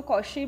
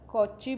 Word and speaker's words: Cauchy: कई इसको कॉशी भी प्रोनाउंस करते हैं, कॉची भी प्रोनाउंस करते हैं, एज यू are comfortable you कैन.